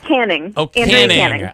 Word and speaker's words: Canning: get your name wrong Andrea Channing oh it's caning ah it's written with